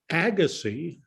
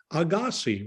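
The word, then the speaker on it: Agassiz: classes was being mispronounced it is not the learned w declared agassi with the accent on the first syllable it is in switzerland agassi with no accent let the records show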